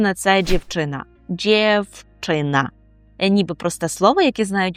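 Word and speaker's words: dziewczyna: Дівчина ніби просте слово, яке знають усі, навіть початківці, але при вимові пам'ятаємо, що звук в в нас оголошується і ми його вимовляємо як ф і кажемо дівчина.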